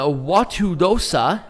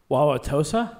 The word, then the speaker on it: Wauwatosa: lerner building in a watudosa i butchered that immensely w-a-u-w-a-t-o-s-a wauwatosa wauwatosa thank you wisconsin and night